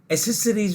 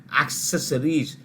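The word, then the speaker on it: accessories: Asus एक्सेस इसी तरह से कार के लोग एक्सेसरीज बोलते हैं नहीं है एक्सेसरीज ए सी सी ई एस एस ओ आर आई ई एस एक्सेसरीज नॉट एक्सेसरीज अ trust you clear with ल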